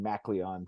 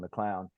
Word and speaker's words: McClown: Mac McClown, who, and I think he pronounces his name Macleon so that people don't call him McClown.